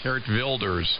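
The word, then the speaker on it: Geert Wilders: yes I it's spelled Gert Wilders where it's pronounced hert wers but yes he's referred to as the Dutch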